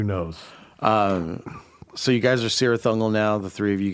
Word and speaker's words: Cirith Ungol: Cirith Ungol is the correct pronunciation, right?